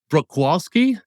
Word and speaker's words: Bruchwalski: before we talked but let me try Brook walski that's pretty darn good yeah Browski got it wski so Troy is representing